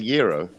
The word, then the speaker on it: gyro: Is it the gyro? It's it's spelt like gyro, but it how is it it's said? like gyro, but it's gyro.